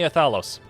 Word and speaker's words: Althalos: by the way othellos you can call me othalos can you spell that a-l-t-h-a-l-o-s it sounds like othello with an extra s in there somewhere okay